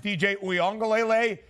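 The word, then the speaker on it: Iamaleava: there listen we've done this many of times DJ UA is how you pronounce his last name Nico I I'm sure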